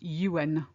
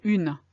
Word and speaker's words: un: 1, which is spelled UN. And I don't want to hear une, because that's 1 as in feminine. Okay? No, un, I want the masculine.